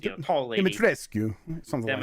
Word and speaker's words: Dimitrescu: It's not Skew. You don't pronounce. I know they say that in the game. I guess that's how they pronounce it is Dimitrescu. Demitrescu or something. Demitrescu, I think is right.